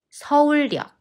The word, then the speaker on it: 서울역: for NA 서울 many other stations are pronounced AS for example 강남역 수원역 서울 station is 서울력 서울력 because comes 실력 신길역 우리 방금 서울역에 도착했어